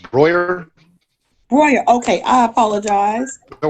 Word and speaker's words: Broihier: Yeah, it's pronounced Broihier.